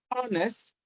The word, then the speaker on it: honest: In C, H is silent as well, honest, not honest.